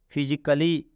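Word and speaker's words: physically: नहीं पढ़ना है ना ए को साइलेंट यहां पे किया गया ए का उच्चारण नहीं करेंगे तो हो जाएगा फिजिकली मतलब शारीरिक रूप से यहां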